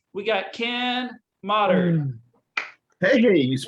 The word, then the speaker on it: Moddard: All right, we got Ken Moddard. Hey, you pronounced it correctly.